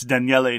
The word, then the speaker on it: Daniele: It's Daniele Tascini. There are three syllables.